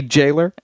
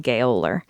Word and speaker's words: gaoler: gaoler PC George Hutt I think they do say they say Jailer whatever it's spelled gayler he found her singing